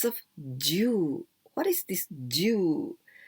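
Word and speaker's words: 銃: What is this Jew? The same pronunciation as Jew. 10, the number 10.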